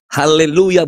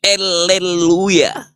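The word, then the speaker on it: הללויה: diri kepada Allah okelah Haleluya bukan Haleluya bacanya tuh eleluya karena itu meruju kepada allahah I Haleluya salah lagi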